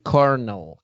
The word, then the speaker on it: colonel: is here in greece kernel kernel wow cornell that this is the only word in english that l is pronounced r um that's a new